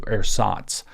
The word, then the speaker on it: Ersatz: Ersatz, which is spelled E R S A T Z.